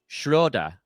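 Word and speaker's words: Schröder: like station ID and he pronounced his own name Shroa. So, Schroeda, Dennis Schro with an accent that I'm poorly doing.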